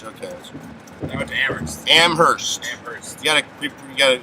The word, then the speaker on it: Amherst: they went to amherst amherst you gotta create you got an unchanged well you don't pronounce the h amherst amherst whatever [ __